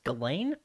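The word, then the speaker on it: Ghislaine: epstein girlfriend lady apparently i've been pronouncing her name wrong it's apparently it's galen but also i would have known she's a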